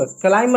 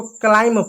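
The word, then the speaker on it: climb: इसको हम क्लाइंब क्लाइम नहीं पढ़ते। इसको क्लाइंब पढ़ते हैं। बी साइलेंट होता है।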